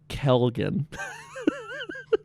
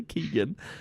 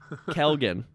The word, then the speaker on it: Kelgan: So, Kelgan. Every time I have to say it like that, nice and slow, so I don't say Keegan. Nice and slow. Kelgan.